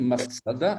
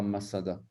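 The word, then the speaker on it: מצדה: Et donc, cette citadelle, Masada, elle s'écrit Matsada. Matsada. Donc, vous avez le tzadé, le dalet et le he. On devrait dire Matsada et pas Masada.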